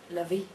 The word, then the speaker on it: LaVey: I can do it le or I can do it levy or I can do it l anyway whatsoever.